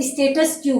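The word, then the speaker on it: status quo: इसका उच्चारण होगा स्टेटस क्यू। कहीं पर इसका उच्चारण को भी बोला जाता है, परंतु अपने को उच्चारण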